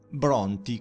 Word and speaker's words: Brontë: che era Branti Pranti, in Bronti con la dieresi sopra la E, affinché gli inglesi non storpiassero la pronuncia e quindi pronunciassero questa E, che secondo le regole invece della pronuncia dell'inglese moderno non avrebbe dovuto essere pronunciata.